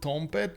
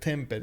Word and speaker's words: Tompet: Colo was telling me that I need to pronounce it Tompet. Initially, I was pronouncing it Tempet, you know, like with the E, not the O.